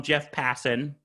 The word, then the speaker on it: Jeff Passan: But he put up a tweet that was first from Jeff Passan.